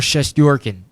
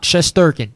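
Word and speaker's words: Shesterkin: islanders and you got igor chest yorkin not chess sturgeon chest yorkin that's how you really say his name and that's how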